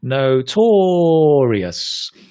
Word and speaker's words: notorious: we say notoriously and you have to say no to Laureus say it like that it's really good it will remind you where to put the stress right note aureus so